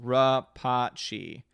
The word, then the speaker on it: Rapace: Orange Hat says her last name is pronounced Rapace. Rapace, interesting.